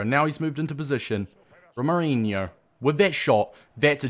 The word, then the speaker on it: Romarinho: Romarinho. I finally started pronouncing his name right as well.